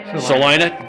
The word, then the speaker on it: Salina: area here around celina i said it right celina dang it i'm gonna get it here before